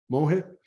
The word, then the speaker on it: Mohit: Mohit, is that how you pronounce your name? Mohit? Yes, that's how you pronounce. You got it right.